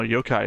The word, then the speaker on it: Yokai: Yokai. Yokai. No, Yokai is a different thing. No, Yo-kai is a spirit. It actually pronounced very similar.